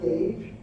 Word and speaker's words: gauge: I mean, you're not pronouncing it anyway, right? Gauge, G-A-G-E. So colloquially, you will see gauge written without the U.